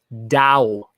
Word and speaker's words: Tao: Oh, Tao is the dough? Is that I'm supposed to say, or Dow? Dow. Got it. Not a hard T.